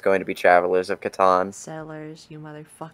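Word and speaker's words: Catan: go yeah this is an actual Settlers of Katon I said it right you said there right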